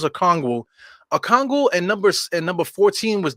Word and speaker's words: Okongwu: I keep thinking Olakandi. That's why I don't say his name. Let me get his name correct. His name is Okongwu. Excuse me. Number 17 is Okongwu.